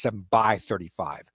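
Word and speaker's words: 7×35: thirty five or more more correctly it's pronounced seven by thirty five like a two by four piece of lumber uh seven by fifty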